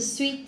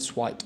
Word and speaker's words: sweet: Just be careful. So it's Sweet Life of Zack and Cody. The sweet. Sweet. I say sweet. You said it wrong. The sweet. You said swite or something like this.